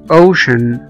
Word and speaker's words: ocean: اي او وسي اي اي، الاربع اشكال دول بننطقهم على طول كأنهم شين، الشين الخاصة باللغة العربية. زي مثلا كلمة ocean، ocean او محيط.